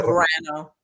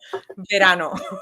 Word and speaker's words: verano: So, and you have to roll your R's. Don't give me the Verano. Verano. You know better than this. Verano.